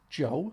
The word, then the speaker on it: Djo: for his solo performance Joe which I think that's how he said you pronounce it. It's either that or DJO or the Joe.